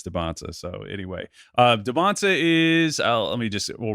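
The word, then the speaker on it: Dybantsa: They pronounce their names, and he says Dybansta.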